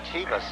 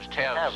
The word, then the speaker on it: Tevs: John Tevas. No, that's Tevs, how it's pronounced.